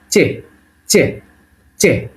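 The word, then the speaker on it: Ч: হ্যাঁ, তাহলে এটাকে আমরা বলতেছি চে চে চে, উচ্চারণ হবে চয়ের মতো, চে।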